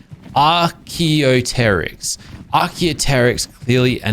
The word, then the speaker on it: Archaeopteryx: Clearly Archaeops are not. I say their name wrong. What is it? Archaeopteryx.